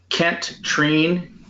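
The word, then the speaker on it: Kent Treen: state your name and tell us how to spell it kent treane k-e-n-t t-r-e-e-n thank you mr trine um and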